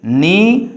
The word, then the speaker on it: knee: So in this case, you don't pronounce knee, knife, knight, knot, kno. No, only knee, knife, night, not, no. So in this case, K are understood or silent.